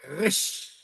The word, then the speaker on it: Resh: Resh. Rech. Alors, ça se prononce comme, c'est le R, c'est la lettre R. Là, c'est le vrai R.